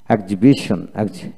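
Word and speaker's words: exhibition: তারপর ডিজ honest, ডিজ honest, এক্সিবিশন, এক্সিবিশন, এক্সিবিট, এক্সিবিট, exhaust, exhaust.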